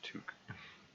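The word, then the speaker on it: tuque: Pronounced Took. I was watching, I think, American player playing this the other day, and he pronounced it talk, and my brain flinched. It's always been a Took in my mind.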